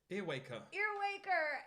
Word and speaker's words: Earwaker: Earwaker.